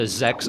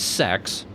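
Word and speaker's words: Sechs: They're part of an evil empire, the Zex Empire, spelled S-E-C-H-S. Reasonably mispronounced as sex.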